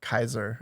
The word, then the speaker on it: Caesar: Like I thought Caesar was sorry. Caesar. Oh wait, you're right. Caesar was more like Kaiser is how they'd Kaiser. say. Oh, wait, Kaiser, is how they'd pronounce it.